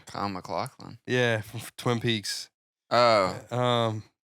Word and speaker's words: Kyle MacLachlan: Kyle MacLachlan.